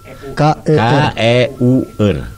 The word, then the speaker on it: keur: K-E-U-R. Keur. Bacanya durur. Bacanya ker. Ker. Bukan ker.